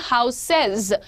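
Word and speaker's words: houses: हाउस को आप बोलते हैं हाउसेज। क्या बोलते हैं? हाउसेज। सेज का वहां पर साउंड दीजिएगा, हाउसेज। Very good job everyone.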